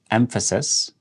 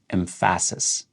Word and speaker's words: emphasis: However, how you're pronouncing it, the stress that you're putting on certain syllables within that word really makes you sound more natural or fluent.